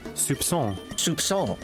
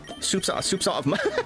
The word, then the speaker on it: soupçon: Okay, so it's a soft C, and then what is it? Soupçon. Another thing off the checklist here. A very small quantity of something. Soupçon of mustard.